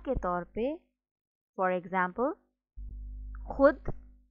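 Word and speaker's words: خود: Sometimes in a word we write letter vav but we don't pronounce it. And that is known as vav madula. Misal ke taur pe, for example, khud, khahish, khush, khab, खामखा, दस्तरखान, खुशी।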